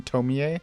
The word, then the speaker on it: Tomie: the tomi movies and by tomi i mean tomie sorry i always mispronounced her name which was fun and